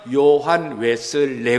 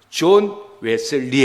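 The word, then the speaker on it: John Wesley: 영국식 발음 은 요한 웨슬리 입니다 . 미국식 발음 에서 는 Johann 을 John 이라 고 부릅니다 . 존 웨슬리 입니다 .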